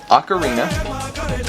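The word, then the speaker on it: Acarina: akathen cepha fans yeah ocarina ocarina it's not spelled like that but it's spelt like this ocarina are mites and ticks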